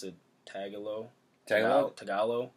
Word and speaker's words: Tagalog: they mentioned usually they have the however you pronounce it tagalo tal tagalo Tagalog yeah The Interpreter cuz that one guy that